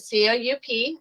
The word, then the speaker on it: coup: taking place okay a coup does anybody know what a coup is and yes that's how you pronounce it c-o-u-p a coup exactly so generally when